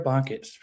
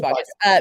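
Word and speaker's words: Boggess: Sierra Baucus. Sierra Bogus. Yes, it's true. So, like, I've never known how to say her last name. I think Sorry, it's Sierra. Bogus. I'm pretty sure it's Bogus.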